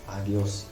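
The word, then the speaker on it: ἅγιος: Now this is rough breathing mark, which means when I transliterate and also pronounce this word, it will pronounce with the sound H sound, that is hop, H sound, H sound.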